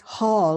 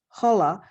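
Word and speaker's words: Holle: now holla is it's sometimes pronounced just Hall like H double A L but sometimes it's pronounced hola that it's spelled h-o-l-l-e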